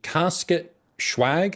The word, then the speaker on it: Casket Schwagg: So Casket Schwagg, is that how I'm supposed to pronounce this?